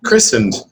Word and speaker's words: christened: where he had been christened the T is silent christened 52 years earlier so